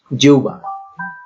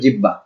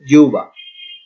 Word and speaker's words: জিহ্বা: আমরা উদাহরণে দেখি, জিহ্বা, জিহ্বার উচ্চারণ হচ্ছে, অনেকে এটা উচ্চারণ করে জিব্বা বা জিহব্বা, আসলে উচ্চারণটা এরকম না, হ উচ্চারণ হবে না, ভ উচ্চারণ হবে না, বফলা উচ্চারণ হবে না, এখানে হয়ের ব এর পরিবর্তে হয় উ না হলে উ উচ্চারণ হবে।